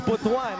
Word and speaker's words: Butuan: Actually, it was Sir Mark Zambrano who was reminding us the other day to pronounce it as Butuan, as we see this move by Chong free throw.